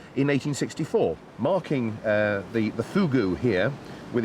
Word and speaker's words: Fougou: is Joe whose garden it is whose whose fogger it is no no fugu I know it's spelt fo geo you but it's pronounced fugu it's all to do with the person of